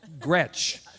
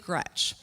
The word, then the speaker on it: Gretch: But another one was Big Gretch. All right, I love you too. So Grandma Gretchen hated to be called Gretch. She didn't want me ever to be called Gretch. It rhymes with wretch.